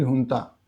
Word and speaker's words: junta: 2021 में वहाँ की मिलिट्री हुंता, वैसे JUNTA बोलते हैं इनको, लेकिन प्रोनाउंस किया जाता है हुंता।